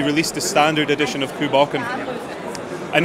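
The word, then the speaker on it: Cù Bòcan: How do you pronounce that? This is Coole Bocan. Coole Bocan.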